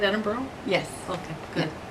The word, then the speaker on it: Edinburgh: I say that right Edinburgh yes okay good some people who don't know how to say it say Edinburg oh yes so it's Edinburgh Ed yeah okay exactly